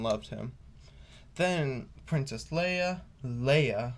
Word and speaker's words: Leia: him then princess leia leia remember not leah she they made her